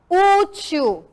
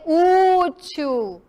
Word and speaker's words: útil: o exemplo do Hélio vocês vão identificar a sílaba tônica aonde ela fica eu vou marcar aqui para vocês ó ó eu vou como se eu tivesse separando a sílaba útil ela tá é mais forte na última sílaba eu falei o Tio ou falei útil ó u útil aqui esse tracinho aqui